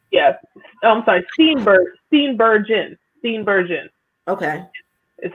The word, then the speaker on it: Steenburgen: You have Mary Sternberger. I think that's how you say her name. Yeah, that's how you say it. Yeah. I'm sorry. Steenburgen.